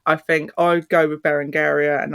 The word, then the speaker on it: Berengaria: think I go with bar andaria and that is how I believe the cypriots pronounce it which is where she